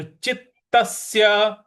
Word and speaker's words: चित्तस्य: चित्तस्य योगिनो यता चितस्य देखिए यहां पे चित जो चित आधा त है वहां पे हमको हल्का सा बल लगाना है चित चितस चितस और यहां जो स है उस पे भी हमको हल्का सा बल लगाना है तो चितस्य इस प्रकार से हो जाएगा योगिनो यत चितस्य यत